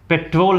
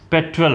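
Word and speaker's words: petrol: बिल्कुल गलत नहीं है, लेकिन इसका इंग्लिश प्रोनाउंसिएशन पेट्रोल नहीं होता, पेट्रोल होता है इंग्लिश में, पेट्रोल।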